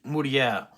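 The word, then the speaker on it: Mège-Mouriès: And I think it's Mourier, not Mourier, because there's no extra R in there. So Hippolyte Mej Mourier, I think is his French pronunciation of his name.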